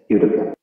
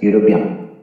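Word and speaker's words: European: হয়েছে ইউ এর মতো, ই এর উচ্চারণটি হয়েছে ইউ এর মতো, এই জন্য আমরা এখানে আ ব্যবহার করব। হি ইজ আ ইউরোপিয়ান।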